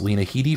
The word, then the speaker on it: Lena Headey: with TV which would have been of course Lena Headey from Game of Thrones 12 to 11 miss